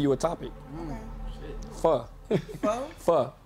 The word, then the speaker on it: pho: Pho. Pho? It's pronounced pho. It's pho. It's spelled pho, but it's pronounced for pho.